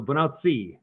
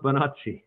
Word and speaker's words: Bonacci: And so I pronounce it more Italian. So bonacci is what I would say. bonacci.